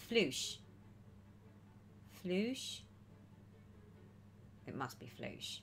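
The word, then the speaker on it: floche: gives you better coverage oh and it's pronounced flush flush floosh okay right so it's not flock it's floosh is that right floosh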